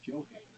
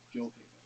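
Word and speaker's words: Gjoa Haven: This is because there is a Joe Haven, which is what the locals say today use the J sound, Joe Haven.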